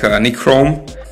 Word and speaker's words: nichrome: Normally, in this type of resistor, it use nickel chrome alloy. It's pronounced like nichrome.